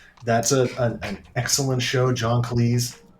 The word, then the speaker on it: Cleese: John Cleese. It's Cleese, by the way. Everybody goes and says Cleese like cheese. Mm-hmm. And he said, no. It's like Sleaze. It's John Cleese.